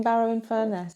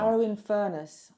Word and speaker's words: Barrow-in-Furness: Barrow-in-Furness. Furnace. Think furnace really like trying to learn furnace. how to say that. Barrow-in-Furness.